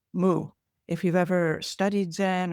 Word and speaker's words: mu: teacher replied moo uh transliterated from Japanese mu moo if you've ever studied